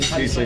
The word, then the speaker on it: Kiesling: Kiesling is how you say it, yeah. Kiesling, and like the Riesling, right? Like the German wine.